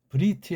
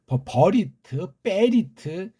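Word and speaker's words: בְּרִית: 한글에서 언약이라고 번역된 말이잖아요 이게 브리트아요 개네 발음으로 브리트 그래요 근데 이걸 뭐 버리 리트 어떤 나라 사람이야 그거 도대체 우리말 도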